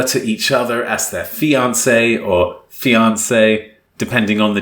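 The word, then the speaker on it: fiancée: each other as their fiancee or fiance depending on the gender pronounced the same but spelt different that's a one e for the men and two for the women because well you know french words so once they're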